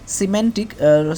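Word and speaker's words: semantic: সিমেন্টিক। সিমেন্টিক হবে উচ্চারণটা। সিমেন্টিক মানে অর্থতত্ত্ব।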